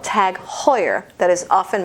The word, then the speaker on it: Heuer: Like, there's a watch brand called Tag Heuer that is often mispronounced. People say Auer, people say Heuer, I don't know. So the watches are Tag Heuer.